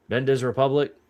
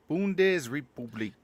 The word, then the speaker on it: Bundesrepublik: What? Bendes Republic? Bundes Republic. Bundesrepublik.